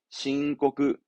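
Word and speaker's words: 申告: 발음은 호코크. 호코크. 신. 신고합니다. 신고그.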